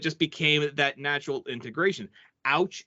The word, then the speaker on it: Aewch: and i'm just like it sounds it's it's ouch you say it like you're ouch as in pain that's usually what i say see i thought it